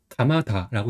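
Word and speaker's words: 鎌田: 그래서 성 같은 경우는 이제 낙하고 밧전이 합쳐진 한자예요. 그래서 가마다라고 읽어요. 그래서 낙겸은 뭐죠? 어디서 많이 봤죠? 가마쿠라 할 때 가마입니다. 그다음에 밧전은 타 또는 다라고 읽는데 여기서 다라고 읽어요. 그다음에 이름은 이제 다이지라고 읽어요.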